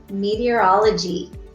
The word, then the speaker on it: meteorology: Here, let's go ahead and break up the syllables and let's see if you can say it with me. It's me, T, or all, O, G. Oh my goodness, how many syllables was that? Me, T, or all, O, G. 6 syllables.